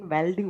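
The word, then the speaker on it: welding: वैसे बेल्डिंग गलत होता है, प्रोनाउंसिएशन वेल्डिंग होता है, ठीक है।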